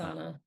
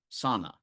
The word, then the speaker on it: Sana: And then this week we saw Workday acquire another company, which I always say the name wrong, Jess. Uh, Sauna. Sana, right? Yep. Yep.